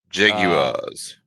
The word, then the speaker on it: Jaguars: Say it like that. Wars, not wires. Jaguars.